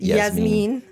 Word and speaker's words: Jasmine: Well, or Jasmine's a Yasmin? nice name. Nah. When somebody says Jasmine, that's actually, it's pronounced Yasmin.